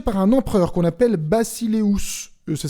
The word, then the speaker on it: basileus: il est dirigé par un empereur qu'on appelle bacileus ça s'écrit basileus ça veut dire maître du monde